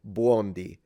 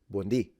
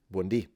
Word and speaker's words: buondì: It's actually, I find it very cute, but she's saying buondì. So she's stressing the beginning, but we stress the end because there is an accent. So we would say buondì. buondì.